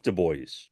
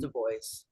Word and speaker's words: Du Bois: called himself Du Bois. Yeah, that's his name. It's to pronounce Mhm. Du Bois.